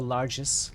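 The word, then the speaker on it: largesse: giving money or gifts it's a soft G so larges larges Prince garoto has cast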